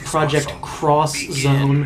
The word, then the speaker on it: Project X Zone: Project X Zone, and that's how it's spelled with an X. Yeah. It's actually pronounced Project Cross Zone.